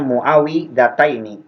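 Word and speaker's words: معوذتين: Bikasril wawi, yaitu dengan mengasrokan wawnya dibacanya muawidataini gitu.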